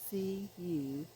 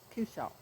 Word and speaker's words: cushaw: I keep wanting to say Kershaw because I heard someone else pronounce it that way. It doesn't have an R in it. It's Cushaw. So doesn't have an R in it. Cushaw.